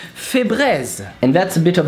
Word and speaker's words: Febreze: So to pronounce Febreze, it's fée, like a fairy but in French. Bré, like braise.